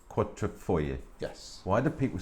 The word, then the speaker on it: Quadrifoglio: When you read it, it says foglio. Yeah, but it's foyer as That's how you pronounce it.